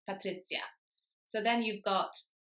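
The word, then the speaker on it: Patrycja: is s and then the J is pronounced like the English letter Y so for example in the word yellow the first sound is y and that's the sound in the name patri so then you've got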